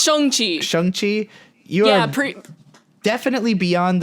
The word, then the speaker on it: Shang-Chi: It's pronounced Shang-Chi.